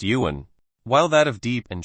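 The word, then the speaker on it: 缘: Zone Tenn the Chinese character for fate is pronounced Yuan while that of deep and shallow are pronounced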